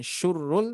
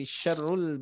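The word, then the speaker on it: شَرُّ: Hati-hati di sini syurrul ya, barusan saya berikan tanda barusan domah, berarti ini dibacanya syu barusan ya. Ini diperhatikan. Ulaika hum syarrul ya, bukan syurrul tapi syarrul bariyah.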